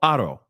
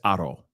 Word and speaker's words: Haro: And I've heard the name pronounced 15 different ways, okay? But I believe it's Haro, all right?